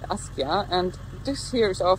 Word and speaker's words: Askja: Do you pronounce it like that? Askja.